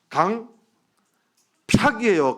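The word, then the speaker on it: 강퍅: 어떻게 발음해야 돼요? 강팍이에요.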